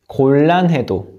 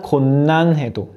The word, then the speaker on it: 곤란해도: And the next word, see how I read it? 곤란해도. It's not 곤란해도. When 니은 meets 리을, it becomes 리을, like 훈련, 날로.